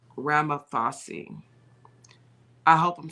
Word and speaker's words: Ramaphosa: Now I want to say his name, and I think it's pronounced Ramaphosa.